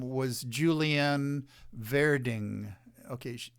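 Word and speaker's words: Werding: her name was julian verding okay in german w's are pronounced v so her last name is pronounced verding except that it's spelled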